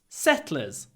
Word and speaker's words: settlers: Remember, the e is really short because it is between глухой с and глухой ц. Unvoiced s and unvoiced t. Settlers. Settlers.